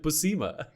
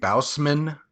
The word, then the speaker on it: Bousema: Thank you for correcting me then, because I pronounce it Bousema. No, that's much closer than a lot of people. Like I get Bousman a lot, and I'm like, where'd you find the N? There's no N.